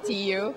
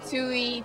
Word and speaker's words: Tiiu: have mispronounced my name my name is t people call me Tui TI tishu Tu um whatever you know I